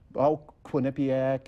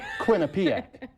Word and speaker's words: Quinnipiac: Welcome to all the teams from Quinnipiac and I think all them other. Is that how you pronounce it? No, it's not it. Quinnipiac.